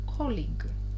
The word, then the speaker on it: colleague: Обратите внимание, пожалуйста, как пишется это слово. Коллягуе. Так и запоминайте себе по-русски. Коллягуе. But read, но читайте. Colleague – коллега.